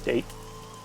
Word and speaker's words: Date: During investigations, the main character, Date, I believe it's pronounced Date rather than Date, inspects scenes and collects testimony.